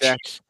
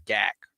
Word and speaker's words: Gatch: Gatch is how I pronounce it. Doesn't care. Is that Yeah. Dave gave me a pronunciation lesson Okay. on it. And so he said, yes, you wanted to give me, because I was calling him. Who told me it was Gak one time?